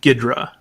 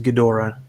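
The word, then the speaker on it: Ghidorah: I was a kid he was just called G gidra but I guess later on they they they uh they took away the Americanization and just added the extra syllable so he's gadora now but um I thought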